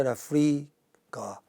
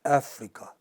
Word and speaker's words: Africa: Where is the stress in this case? In the first syllable, in Africa. It does not say Africa. It does not say Africa. It says Africa. Since I returned from South Africa, not on the south, but on Africa.